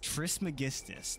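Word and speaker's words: Trismegistus: swamp is this the relic of Tris magistus Tris magistus that's how you pronounce it that was close oh my God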